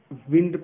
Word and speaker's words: wind: इसको बहुत लोग विंड पढ़ते हैं, बहुत लोग वाइंड पढ़ते हैं. दोनों में से सही प्रोनाउंसिएशन कौन सा है? दोनों ही सही प्रोनाउंसिएशन है. विंड ब्रिटिश एक्सेंट है, वाइंड अमेरिकन एक्सेंट है, तो दोनों ही एक्सेंट सही है.